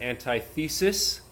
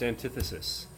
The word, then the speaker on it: antithesis: Some people might pronounce it antithesis, but it is pronounced antithesis.